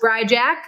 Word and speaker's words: Bryjak: My name's Bryjak. It's spelled like it sounds. Just don't add a C in that Jack.